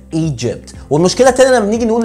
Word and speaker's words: مصر: الاولانيه ما بنحطش دي خفيفه كده قبل الجي فبنقول ايجيبت، مع ان المفروض نقول ايجيبت.